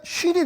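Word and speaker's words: שׁ: 똑같은 글자에 사실 점을 어디다 찍느냐에 따라서 여기에 찍으면 신이 됩니다. 그냥 S 발음이 나죠. 근데 점을 여기다 찍으면 쉰이 됩니다. 앞쪽에다 찍으면 쉰.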